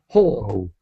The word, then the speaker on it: whole: So in this word the W is silent. So we pronounce that word whole.